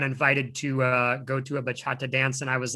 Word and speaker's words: bachata: So I'm probably going to mispronounce this, and I'm really sorry, but how long have you been doing bachata dancing? You pronounced it right, bachata.